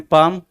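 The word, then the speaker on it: palm: बनेगा पी ए एम पाम यानी कि पी ए एल एम देखो अल एल साइलेंट रहेगा इसमें पा पी ए एल एम पाम बोले गए तो देखो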